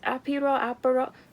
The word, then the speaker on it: Aperol: It is the Viseart Aperol. Let me look up how to pronounce it. I'm not trying to have y'all make fun of me. Aperol? Aperol. Aperol. Aperol. Aperol. Aperol. That's Aperol.